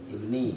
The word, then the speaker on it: ibni: Wa an wa'il itu ibnu apa ibni bacanya? Ibni. Ya yang benar ibni.